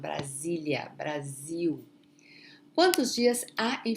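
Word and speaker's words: Brasília: Papa Razzi Brasilia Brazil Brasilia notice remember please remember that between the s between two vowels the pronunciation is going to be okay it's a Z sound Brasilia Brazil once Jesus are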